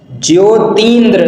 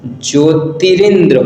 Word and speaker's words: ज्योतिरिंद्र: है आगे देखते हैं ज्योतिंद्र नहीं होता है ज्योतिरिंद्र होता है ज्योतिरिंद्र होता है यह